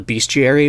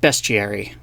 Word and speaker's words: bestiary: of people think that it is called a beastiary because it's like a manual of different beasts